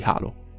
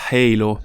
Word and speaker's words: Halo: della wiki italiana di Halo. Eh sì, lo sappiamo che in inglese la pronuncia giusta sia Halo, però noi siamo italiani e lo conosciamo come Halo.